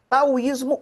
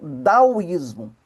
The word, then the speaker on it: Taoísmo: Tauísmo ou daísmo, as duas as duas formas de se pronunciar estão corretas.